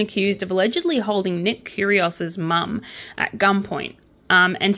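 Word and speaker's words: Kyrgios: steals a green Tesla I'm so glad that this person's famous because otherwise I'd have no idea how to pronounce this last name because seriously have you guys seen how they spell curious it's k-y-r-g-i-o-s for a dyslexic that is the most horrible last name to ever pronounce ever so Nick curios's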